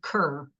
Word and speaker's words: Kher: referenced a really cool visual artist called Barty Kerr. Her last name is spelled Kher, and her artwork is mostly of bindis that she has placed.